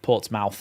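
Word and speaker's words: Portsmouth: over time Isaac is people have called it MTH rather than mouth because it's easier to say I guess and ports ports mouth and Plymouth just don't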